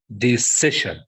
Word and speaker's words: decision: this yes yes sir decision yeah the session okay so the stress in ci before before shen before the end s i o n so the stress will be before them okay the second word who